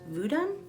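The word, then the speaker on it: vodun: Another type is called Voodoo, which is an Afro-Haitian religious closed practice that blends West African, I think it's pronounced Voodoo, religion and Roman Catholicism into their practice.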